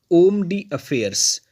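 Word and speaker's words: homme d'affaires: यह ओम डी अफेयर्स इसमें add silent है उसको पढ़ा जाता है ओम डी अफेयर्स यह फ्रेंच लैंग्वेज से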